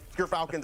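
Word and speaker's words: Gyrfalcons: But Gerfalcons, everyone, so anyone who mispronounces it, that's how you say it.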